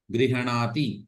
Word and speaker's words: गृह्णाति: ग्रहणाति अथवा गृह्णाति हकारे अकारः न स्यात्, माने ह को आधा ही बोलना है, पूरा नहीं बोलना है। गृह्णाति ऐसा नहीं, गृह्णाति, गृह्णीतः, गृह्णन्ति, ह जो है वो हृदय में ही रह जाएगा एक तरह से।